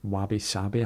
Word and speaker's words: wabi-sabi: There's a concept in Japanese culture called wabi-sabi, I think that's how you pronounce it, and it celebrates imperfection and impermanence,